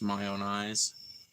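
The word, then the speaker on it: Mayonaise: the Smashing pump song mayonnaise which I think is actually supposed to be pronounced my own eyes um but uh I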